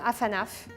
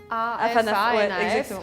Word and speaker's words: afanaf: Ça donne afanaf. A-F-A-N-A-F, half and half.